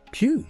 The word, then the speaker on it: qi: Qi? Yeah. It's pronounced qi, and it's often translated as life force or vital energy.